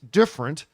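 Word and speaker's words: DFRNT: gym in Australia called it's called different but it's spelled like uh D dfr NT different yeah different is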